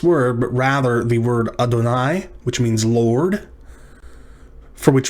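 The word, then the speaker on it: אֲדֹנָי: some translations say jehovah you'll often hear it referred to as yahweh but don't read it that way especially if you're in the company of jewish people you'll want to speak it as adonai which means lord next up yom yom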